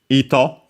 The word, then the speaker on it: 糸: Ito. Yeah, with the kanji actually, there are other ones without it. Accent on the first mora, so yeah, was ito, high-low, and yeah, thread, and then also yarn, string.